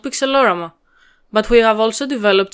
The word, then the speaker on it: Pixelorama: We also pronounce our sprite editor Pixelorama since it's derived from the same word, but you can pronounce it however you want.